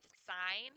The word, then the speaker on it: sine: letter and then sometimes people try to say sin instead of sine the reason this is pronounced sine and not is it's